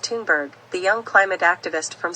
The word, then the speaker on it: Thunberg: of authors including Gerta fenberg pronounced tunberg the young climate activist